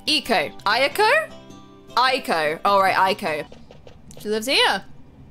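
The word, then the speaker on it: Eiko: Iko? Iko. Ayako? Aiko.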